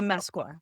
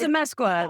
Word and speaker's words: Amezcua: You say it right. But you are so close. You're so close. It's a Amezcua. It's a Amezcua. Amezcua. Like no one ever gets it right on the first shot.